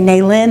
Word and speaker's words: Nalyn: And, you know, I say Nalyn, accents on the second syllable.